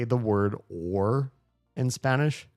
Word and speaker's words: o: In Spanish, the word or is o. It's just the letter O. It's pronounced O. It's not a diff thong. It's not O like English O. It's just O.